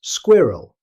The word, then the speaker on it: squirrel: In British English it's pronounced squirrel. However, in fast natural speech, the final vowel can become very weak, sounding more like squirrel. Try to say it naturally, without stressing every sound.